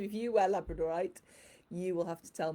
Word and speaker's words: labradorite: labrador dogs come from and i call this labradorite you may also hear it referred to as labradorite but for me if it comes from labrador it's labradorite so there you go